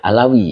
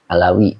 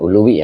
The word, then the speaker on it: Alawi: Alawi ya. Bukan Uluwi ya, bukan ini. Dibacanya adalah Alawi ya. Nah, saya salah baca ini. Jadi Abdullah ibnu Alawi, baru Al-Hadadu ya. Jadi Alwi Al-Hadad begitu, bukan Uluwi ya, maaf ya.